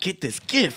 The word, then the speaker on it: GIF: But gif is pronounced gif because gif stands for graphic interchange format. Oh, here you go. So the G in GIF is a hard G, a very hard G.